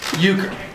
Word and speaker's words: euchre: scorecards right yes i do sweet all right euchre um basically you everybody gets five cards how do you spell it euchre e u c h r e